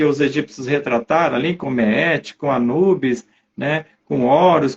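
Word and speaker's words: Maat: Isso foi representado pelos egípcios como o salão de Meet, escreve M-A-A-T, né? Mas se fala, né? A maneira de se pronunciar é Meet.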